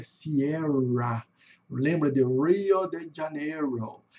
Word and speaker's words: Sierra: Então aqui é Sierra, lembra de Rio de Janeiro?